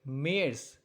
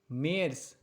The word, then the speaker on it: März: It's like März. March. März.